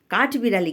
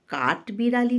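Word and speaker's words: কাঠবেড়ালি: বসু তোমাদের জন্য এই কাঠবিড়ালি কে নিয়ে একটি কবিতা লিখেছে উচ্চারণটা শোনো কিন্তু কাঠবিড়ালি নয় কাঠ বেড়ালি কবিতা শোনো কবিতার নাম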